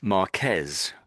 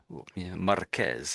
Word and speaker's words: Marquez: And of course, Marquez, Marquez, isn't it? It's like trill on the R, isn't it?